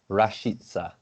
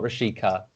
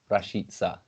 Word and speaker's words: Rashica: it's milot not milo milot rashitsa so not rashika rashitsa yeah very excited to